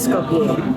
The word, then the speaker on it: Skopje: Salah satu hidangan pembuka yang saya coba, hidangan khas Skopje, meskipun tulisannya Skopje tapi dibacanya Skopje.